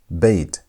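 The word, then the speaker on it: בית: The next letter is bait. Bait. B sound.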